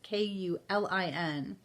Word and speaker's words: Kulin: It's Kulin.